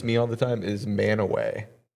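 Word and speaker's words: Mantua: Well, it's still pronounced manaway. It's just spelled weird.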